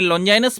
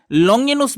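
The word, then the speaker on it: Longinus: ही अर्थ में लीजिएगा उनके नाम के भिन्न-भिन्न उच्चारण है लोंजाइनस भी उनको कहा गया है लोंगिनूस भी होने को कहा गया है उनकी बहुत प्रसिद्ध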